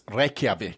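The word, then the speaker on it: Reykjavík: Well, probably because it's Reavik and not Raven.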